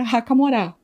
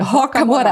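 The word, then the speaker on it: Rocamora: Então o nome da galeria é Racaorá, né? Raca Morá. É Roca, desculpe. Roca Morá.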